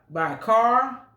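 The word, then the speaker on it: Schär: I use ciabatta bread by Char. It's spelled Schar.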